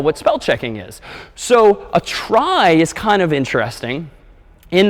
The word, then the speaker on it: trie: So, here's one last data structure that we'll call a try. So, try short for retrieval somehow. T R I E, but pronounced try.